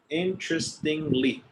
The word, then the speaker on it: interestingly: Yeah, it has 4 syllables. Interestingly. Interesting. One more time. In. Tris. Stress. Like stress. Ting. No. Interest. Tris. Interest. Ingly. Inly. Interestingly. Yeah, it's 2 and 2.